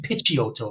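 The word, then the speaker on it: Picciotto: and the other guy's gui pikiyoto or d pichi hotel if i want to go by the italian pronunciation right i'll go by pikiyoto and uh gi pikiyoto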